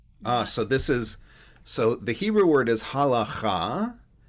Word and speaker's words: halakha: So the Hebrew word is halakha, with a regular H at the beginning and a ch in the middle, but the ch is really originally a K sound.